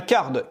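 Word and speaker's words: Carrd: Ensuite, après Drip, on a Card. Card qui... alors attention, parce que ça s'écrit pas comme Card en anglais, c'est avec 2 R.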